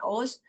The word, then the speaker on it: OWSD: OS itu, OWSD ini bacanya OS, itu adalah organisasi dunia.